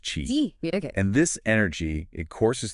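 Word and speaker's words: qi: balance flow of vital energy they call this key key yeah it's pronounced Chi and this energy it courses through the body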